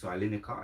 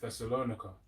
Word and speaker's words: Thessalonica: Thessalonica. That's the word. That's how you say it. Thessalonica.